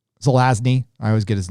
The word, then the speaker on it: Zelazny: uh uh i'm a big fan of roger zelanzi zelazny i always get his name wrong um the nine princes of amber that